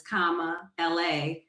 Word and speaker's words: Kamala: a there's a there's a t-shirt that says comma la as pronounced because a lot of people don't know